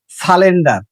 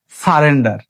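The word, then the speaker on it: surrender: যেমন আমরা বলি সালেন্ডার অথবা বলি সলেন্ডার। আসলে প্রোনাউন্সটা কি হবে? সারেন্ডার।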